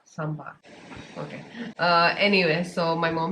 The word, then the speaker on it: sambar: Sambar. Sambar.